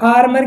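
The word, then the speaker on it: armour: लेकिन जब ओ यू से आर या एस जुड़ा हो तो हम इसका प्रोनाउंस क्या करेंगे, ए करेंगे। फॉर एग्जाम्पल है आर्मर। तो आर्मर के अंदर क्या है, ओ यू आर साथ में आ गया, क्योंकि ओ यू के बाद में अगर आर आ रहा है तो इसका प्रोनाउंस क्या होगा, ए होगा।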